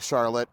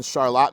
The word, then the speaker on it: Charlotte: Now, I wasn't sure if it was Charlotte or Charlotte because it looks like Charlotte and it's spelled like Charlotte, but a local at the gas station told me that it is indeed Charlotte.